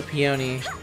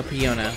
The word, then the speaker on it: Peony: And also Peony, no Peona, I believe is how you say her name. At least someone corrected me once, so forgive me.